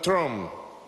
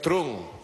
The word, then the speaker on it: Trump: Inclusive, hoy viendo el discurso del presidente Donald Trump, yo le digo Trump, pero me dice que no es Trump, es Trump. Porque se escribe Trump y se pronuncia Trump, como una propaganda que había en la radio.